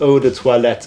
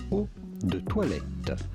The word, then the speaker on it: eau de toilette: Okay, that pronunciation was pretty horrendous. I'm not a snob about that kind of stuff, but it's pronounced eau de toilette, guys.